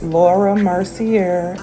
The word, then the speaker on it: Laura Mercier: I am having so much difficulty today pronouncing her name, but it's Laura Mercier.